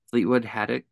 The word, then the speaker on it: Fleetwood Haddock: So I'm here with Fleetwood Haddock. Is that how it's pronounced that right? Yep.